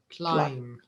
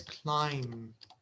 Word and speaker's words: climb: climbing and the B the letter B is silent okay so you should say climbing climbing Ming yes all right and the verb is climb climb like this they write it like this climb okay climb climbing so